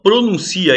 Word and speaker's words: pronuncia: Agora, se você fala pronuncia, ele pronuncia isso, é o verbo, ele pronuncia.